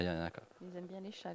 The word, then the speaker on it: Yanaka: Yanaka. Y-A-N-A-K. Ah. Super, bah voilà, C'est comme ça se prononce en fait.